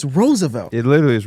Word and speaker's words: Roosevelt: phonetically yes if you just look at how it's spelled but like it's Roosevelt it literally is Roosevelt nobody's calling Theodore Roosevelt his name is the